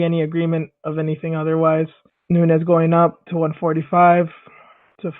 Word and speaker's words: Nunes: agreement with me that it is pronounced Nunez it's not Nunes or Nunez thank you for that